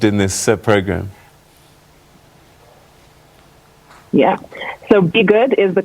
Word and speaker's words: BeyGOOD: So BeyGOOD is the correct pronunciation of it, derived from Beyonce, as it is her philanthropic initiative.